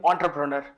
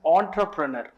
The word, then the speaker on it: entrepreneur: Why we are calling entrepreneur? The reason beyond this is because it is a French word.